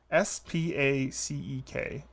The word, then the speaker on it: Spacek: Spacek. Sissy. It is an unusual pronunciation, but you should be able to get there. She's an Academy Award winner.